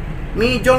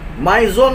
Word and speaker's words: Mizone: menyebutnya berdagangnya teriaknya beda Mizone bom Mizone Mizone Mizone mungkin begitu ya Jadi bukan mijon mijon mijon mijon mijon jangan gitu lagi Oke kita tinggalin yang